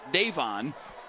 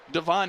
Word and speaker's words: Davon: who, by the way, there's another pronunciation. Depends on who you ask. Coach told us that his father told him that he would like his son's name to be pronounced Davon, and I found clips earlier this week with Devon himself identifying himself as Devon Keys.